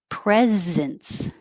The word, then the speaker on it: presence: ah author proactive proactive presence it looks like an s but sounds like a z presence and 41 it